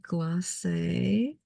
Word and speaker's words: Glacé: And we did Glacé. It's very important to have that accent on the E.